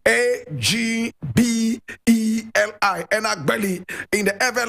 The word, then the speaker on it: Agbeli: Agbeli Gbedemah. And I spell, Komla is spelled K-O-M-L-A.